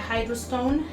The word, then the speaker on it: Hydrostone: El Hydrostone, se pronuncia Hydrostone, que es un equipo